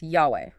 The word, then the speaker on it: Yahweh: The 4 Hebrew letters, the tetragrammaton, often pronounced Yahweh.